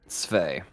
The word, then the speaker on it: Svei: That's the way you pronounce it? Svei, yes.